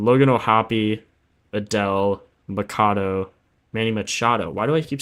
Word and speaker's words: Machado: Um, Manny Machado. Machado, not Maccato. I keep saying it wrong, bro. It's so sad. So stupid. Cuz I feel like it should be macato, but it's machado.